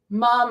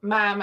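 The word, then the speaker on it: ma'am: things you know um it's like mom as in harm not mam as in ham that that's actually written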